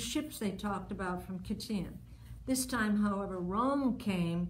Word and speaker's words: Chittim: For the ships of Chittim, pronounced Kittim, shall come against him.